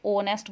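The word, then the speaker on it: honest: इसे आर बोलते हैं एन ऑनेस्ट मैन शुरू एच से हो रहा है लेकिन एच साइलेंट होता है हम इसे ऑनेस्ट बोलते हैं इसलिए एन लगता है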